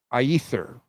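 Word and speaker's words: Aethir: Sean are you ready ather I think is how it's pronounced a e t h i r it's about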